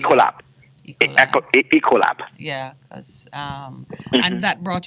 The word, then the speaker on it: Ecolab: I know I have it, but you did work with how do you pronounce it? Ecolab or Ecolab? Ecolab.